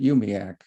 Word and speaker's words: UUMUAC: to pronounce i suppose yumuwak but we pronounce it umiak instead we we make that third u into an i we say um the